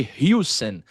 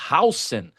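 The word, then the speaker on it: Huijsen: É, hoje eu vi um uma notícia que parece ser bem interessante assim, o Hausen, eu chamava de Hen, mas a pronúncia correta é Hausen, jovem zagueiro do Bornemouth, da seleção espanhola também.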